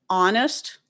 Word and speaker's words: honest: Um, I said other forms, other words with a silent H are hour, air as in HEIR, okay? Honest, just here's an example of some other words that have a silent H.